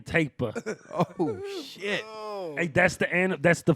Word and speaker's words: tapir: The Malayan tapir, the largest species of the tapir family. Hey, I ain't a hater, but I believe it's pronounced the Malayan taper.